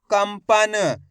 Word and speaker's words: कंपन: काम अनुस्वार की मात्रा कम, प, न, तो मिलके बन जाएगा कंपन। अब देखो इसके अंदर भी अपन ने आधा माँ का उच्चारण करा है।